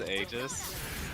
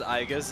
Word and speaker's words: Aigis: Remember when I thought it was pronounced Aegis? Yeah. God, that was funny. I think it's a pronunciation of a version of that word. It is. Not the name. Okay, 'cause I was about to say, like, if you've been telling me this whole time that the only way to pronounce it is Aigis, and you just came out right now and said, oh yeah, that's another way to say it.